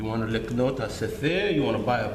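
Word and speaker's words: ספר: This is how you say book in Hebrew, okay? Se.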